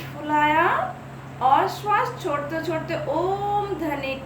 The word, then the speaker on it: ओम: अब अगर ओम को अगर हम संधि विच्छेद करते हैं, उसमें 3 अक्षर पाए जाते हैं, 2 स्वर वर्ण और 1 व्यंजन वर्ण। स्वर वर्ण में आ और उ, व्यंजन वर्ण में म अक्षर। अ और उ का उच्चारण स्थल कंठ है और म का उच्चारण स्थल होठ है। ठीक है, तो अ जमा उ जमा म इक्वल टू ओम ध्वनि उच्चारण होते हैं, जिसे ब्रह्मनाद कहता है।